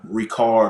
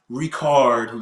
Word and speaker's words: Richard: it yeah I say Richard yeah I get it right yeah I've just talked to some Hennessy reps from over there in France and that's how they pronounce it recard you know what I'm